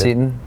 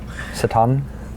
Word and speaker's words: Seton: Seton. Yeah. And I was saying that wrong forever too. Satan. I would just like not Cretan.